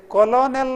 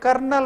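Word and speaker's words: colonel: तमाशेचे इंग्लिशांत आसा पळयात ते कॉलोनेल म्हणून आमी अशी स्पेलिंग ते कर्नल म्हणून वाज्जुका आर नांतिना ते हें कोणें हें रुडी आमकां ते तशी वाज्जूचें म्हणून शिकोवन दिलां लेफ्टिनेंट स्पेलिंग पळया ते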